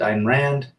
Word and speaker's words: Ayn Rand: Trance, 1984 is a must see, as well as reading Ayn Rand, if you want to pronounce it, Ayn Rand.